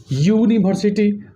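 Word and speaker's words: university: जैसे यूनिवर्सिटी, यहाँ you vowel है लेकिन इसका उच्चारण करते समय यूनिवर्सिटी अर्थात य आ रहा है इसलिए इसके पहले ए का उपयोग करेंगे।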